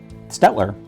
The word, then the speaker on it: Staedtler: I Googled it and according to Google it says it stetler sounds like yeah I don't know